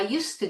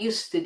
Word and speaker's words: used to: Now in spoken English, really there is phonetically absolutely no difference whether we have a 'd' there or not. For example, if I say: I used to do it, and I